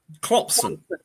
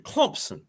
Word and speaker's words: Clemson: Clemson. I finally learned how to say it right, thanks to you. Clemson.